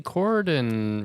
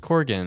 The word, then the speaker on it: Corgan: yeah there's cuz like Billy cordan right Corgan I always mispronounce his last name from Smashing Pumpkins